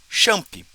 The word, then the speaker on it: XAMPP: Então, tem uma outra forma da gente implementar o MySQL, que é junto com um servidor web, que é o XAMPP, ou XAMPP, de acordo com a sua pronúncia.